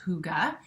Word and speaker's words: hygge: whole movement of um i believe this is pronounced hygge and i did a video on how vivi